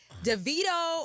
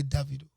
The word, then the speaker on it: Davido: So basically David, but saying with an O at the end.